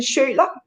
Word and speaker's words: Schiøler: well um yes my my name is sherlock this is a danish surname so it's next to impossible to pronounce so yeah i was like i'm not